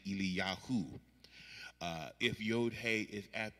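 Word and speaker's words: אליהו: The example I gave was Elijah is actually Eliyahu.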